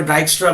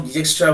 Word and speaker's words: Dijkstra: যে সায়েন্টিস্ট, ঠিক আছে, অনেক জায়গায় অনেকভাবে আমরা ডাইক্সট্রা বলবে, অনেক লোক ডিজেক্সট্রা বলে, যে যেই প্রোনাউন্সিয়েশনটা যেরকম দেশে যেরকম কান্ট্রিতে আমরা করে থাকি, আমরা পিওর বাঙালি বলে আমরা ডিজেক্সট্রা অ্যালগোরিদমই বলে চলি। এর অনেকভাবে অনেক জায়গায় প্রোনাউন্স করে অনেকভাবে।